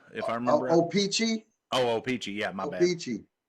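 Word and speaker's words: Ochopee: I can't even pronounce it. Osceola, if I remember. Opeechee. Opeechee.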